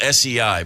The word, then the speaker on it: sei: It's spelled S-E-I, but it's pronounced sei.